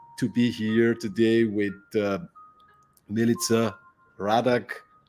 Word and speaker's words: Milica Radak: be here today with Milica Radak, and I'm really hoping I pronounced this name correctly. Yeah, you did beautifully, actually. I haven't heard it pronounced that close to correct in quite a while.